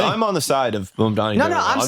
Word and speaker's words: Mamdani: pronounce Mamdani. It's really like just fucking insane. What's the Mamdani, it's just Mamdani. Mamdani and Madmani or whatever just happened.